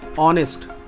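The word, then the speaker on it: honest: ही इज एन ऑनेस्ट मैन, क्योंकि इसका उच्चारण ऑनेस्ट है ना, एच इसमें क्या है साइलेंट है।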